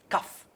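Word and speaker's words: cough: word so it is this is c-o-u-g-h it's cuff enough okay like stuff through like to do okay we have dough you see the same words the same letters oh you g-h is pronounced do however here o-u-g-h is pronounced it is cuff we have like the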